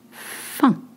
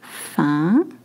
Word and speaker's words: faim: Faim, hungry. Not femme, which means a woman. Faim.